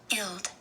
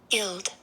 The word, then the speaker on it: guild: Guild. Guild. You don't hear very much of the G, but it is there, and it is a short I.